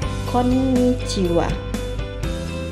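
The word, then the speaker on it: こんにちは: Contoh N dibaca N adalah konnichiwa.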